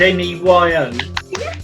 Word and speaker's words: Ne-Yo: Is it Neo? I think it's pronounced Neyo.